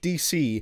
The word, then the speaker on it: Dece: that features both Denzel Curry and Mike Dece (pronounced Mike Dee-Cee), and I think I’ve decided I love it whenever these guys collaborate.